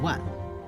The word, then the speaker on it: 卍: 向旋转，并把它当做一个汉字，读作万。